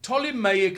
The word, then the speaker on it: Ptolemaic: from the line the ptolemaic line PTO you don't pronounce the p y I don't know